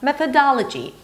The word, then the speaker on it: methodology: It's not methodo. Methoda. Both vowels here are not an O sound. One is a schwa, one is the as in father. Methoda. And then the suffix lg is an L sound and then a schwa, l, a G sound, j, and then a high E, lg.